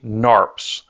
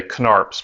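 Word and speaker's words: Knarps: Parts they're actually Odyssey narps so that's k-n-a-r-p-s so sometimes we like to say canarps but that's not it I mean the k is silent so let's go ahead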